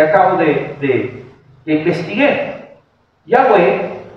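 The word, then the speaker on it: Yahweh: entendiendo Ese es Jehová Aunque la más probable pronunciación del inefable nombre del señor es yahwe eh yahwe haciendo énfasis fonético en las consonantes y no Pues en las vocales más o menos es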